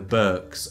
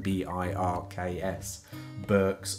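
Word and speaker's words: Birks: last year had a nice walk in the Burks of avafel aberfeldy that's spelled b-i-r-k-s books of aberfeldy that's lovely although it was raining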